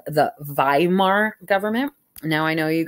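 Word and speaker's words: Weimar: at me crazy but in the German language a W is pronounced with it like as a V in the English language so those I'm our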